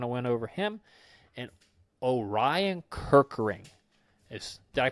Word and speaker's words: Orion Kerkering: We already kind of went over him, and Orion Kerkering. Is Did I pronounce that right, Ken?